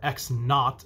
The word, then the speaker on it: x naught: with a zero represents the starting position or x naught is how it's pronounced or you might see it with a